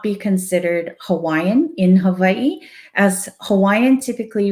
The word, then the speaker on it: Hawaii: in hawaii i would definitely not be considered hawaiian in this context so um the next question is what is the correct pronunciation of hawaii so you'll hear me saying